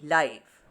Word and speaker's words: live: i'll live or die the meaning of this leaf is to have life and it rhymes with the word give last night i saw the ben play life this life means in real time performance and it rhymes with the word hype so leave give life